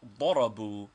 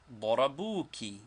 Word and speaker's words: ضربوا: Is the alif at the end of darabu pronounced? No, it is not pronounced.